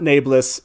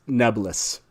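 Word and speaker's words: Nae'blis: jordan pronounced this word that's correct folks not nablus it's nebulous and for some reason at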